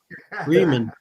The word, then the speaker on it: Reman: Reman. Yeah. I was a German major, so I that's that's the way I would pronounce it in German.